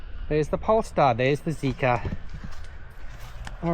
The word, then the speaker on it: Zeekr: to protect with the Zika 7X on there. Before it's a JK cuz that's how you pronounce Zika in Chinese. Jika Ja 7X.